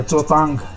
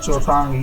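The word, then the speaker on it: चौटांग: ये जो नदी मैंने बनाई है ये है चोटांग नदी, चोटांग या चोतांग, ठीक है, इसे कहा जाता है चोटांग।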